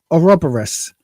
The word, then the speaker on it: Ouroboros: She's in the, now I've been told it's Ouroboros.